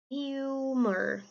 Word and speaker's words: humor: pra palavra humor Ok ali o h é com som de R E o o tem som de u humor continuando eventually GS became